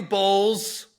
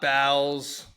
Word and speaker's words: Boules: It's Boules, Yes. not Bowles.